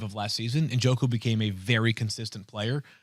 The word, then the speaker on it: Njoku: David Njoku.